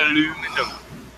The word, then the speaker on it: aluminum: call it aluminum, and that's all right because people from the States are retarded when they try to pronounce the word aluminium.